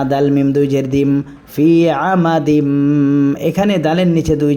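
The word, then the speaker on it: فِي: আলাইহিম মুসাদা এরপরে ফায়াজের ফি জেরের বামে ইয়া সাকিন এক আলিফ টানতে হয় এখানে আমরা এক আলিফ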